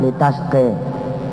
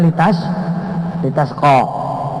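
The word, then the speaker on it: لتشقى: Ma anzalna 'alaikal qur'ana litashqi. Ya, bersyukurlah orang Betawi jadi termasuk yang disebut ini. Litashqi. Aturan litasqa. Ini bacanya litasqa.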